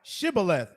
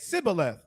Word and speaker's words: Shibboleth: Unto him say now Shibboleth, and he said Sibboleth, for he could not frame to pronounce so it they right.